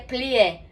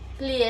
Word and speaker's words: plié: É muito importante vocês saberem que quando em francês a gente coloca um acento agudo, que é esse aqui, assim, na verdade, ele tem som de E, não de E, como aqui. Então, se a gente lesse em português, seria plié. Mas em francês é plié, com esse biquinho, plié.